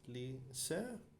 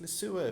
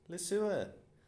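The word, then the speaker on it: Leseur: is this your surname pronounce lee sir ishmael yes miss he's lying miss it's le sewer fishtail le sewer more laughter from behind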